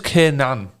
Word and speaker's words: Kiernan: and the nominees are Kieran Dewsbury-Hall at Leicester. His name's Kiernan, N-A-N. It's spelled Kiernan. Apparently, not Kieran.